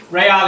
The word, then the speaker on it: real: to do this analysis in the Brazilian rail Ray all is the currency in Brazil looks it's felt